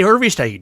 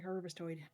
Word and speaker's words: Harvestide: Hey, Harvestide. You have to say it like that. Hey, Harvestoid. Oh, I Orvistoid. Hey, I harvested. Hey, Harvestide. All one word.